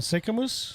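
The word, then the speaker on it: Sicamous: How do you pronounce that town? Sycamus.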